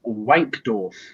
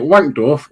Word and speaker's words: Wankdorf: Is it Wankdorf or Wankdorf? Wankdorf, not Wankdorf.